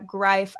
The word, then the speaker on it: Greif: So, Frank, two years in, uh, grife. I always I always wanted to say grief, but I've Yeah, just it it rhymes with life.